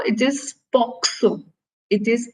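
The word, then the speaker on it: POCSO: talk about poxo and a lot of people mispronounce it as Poco but U uh it is first of all not posco it is poxo it is p CS o and uh the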